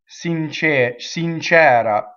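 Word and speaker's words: sincera: So con fe ssincɛra. So ssincɛra, open E.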